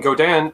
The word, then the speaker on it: Godin: As a Canadian, we would say Godin. Okay. Because they're based in Quebec. And Godin actually owns Seagull.